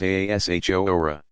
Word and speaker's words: Ashura: Ashura, pronounced Ashura, possibly paralleling the Jewish practice of fasting on the 10th of Tishri, generally known as Yom Kippur.